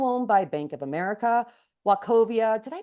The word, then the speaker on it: Wachovia: Merrill Lynch, now owned by Bank of America, Wachovia. Did I pronounce that? I always mess that up. Yes. Wachovia, which is now owned by Wells Fargo, as well as JP Morgan and the private bank.